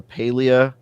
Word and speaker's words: Palia: And other than that, I've got a Palia a review coming up sometime Did we decide soon. It's Palia and not Palia?